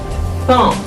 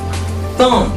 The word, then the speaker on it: thumb: The first finger is thumb. Thumb, like that. Thumb. It's not thumb. When you have the letter combination MB, the B is silent.